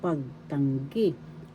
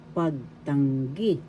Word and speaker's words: pagtanggi: Negatives, meaning in Tagalog, pagtanggi. Pagtanggi. Negatives, pagtanggi. First syllable pag, second syllable tang, third syllable gi. The third syllable has the accent, pagtanggi.